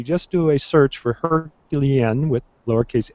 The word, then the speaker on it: HercuLien: kind of talk about the her is it herculan how do you pronounce that yeah so it's uh a herculine is how I pronounce it you know I I you know